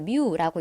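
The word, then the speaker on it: μ: 우리는 이거를 뮤라고 읽어요.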